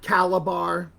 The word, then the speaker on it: Calabar: head this is a calabar python let me spell it for you it's c a l a b a r calibar python and look somewhere inside oh oh i